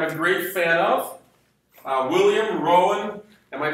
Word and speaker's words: Rowan: But there was another very important person, and somebody I'm a great fan of, William Rowan. Am I pronouncing that name correctly? R-O-W-A-N, Irish, Rowan.